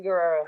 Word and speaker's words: Guerrero: Did I say it right, Guerrero? Yes, Guerrero.